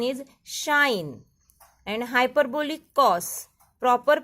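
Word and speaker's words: sinh: Hyperbolic sine, proper pronunciation is shine, and hyperbolic cos, proper pronunciation is cosh.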